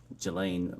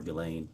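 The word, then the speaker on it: Ghislaine: that in 2024 uh Gelain Maxwell or Gileain I think is how it's pronounced arranged and wired $1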